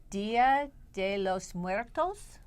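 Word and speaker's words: Día de los Muertos: Now, but wait, let's pronounce it properly. Dia De Los Muertos?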